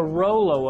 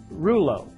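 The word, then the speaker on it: rouleaux: to some degree that's the rollo effect or reuleaux depending on what part of the world you're from the pronunciation varies but at the end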